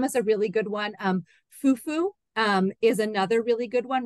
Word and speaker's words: fufu: And again, that some of the times you can hear in West African languages, fufu, the accent is on the U part.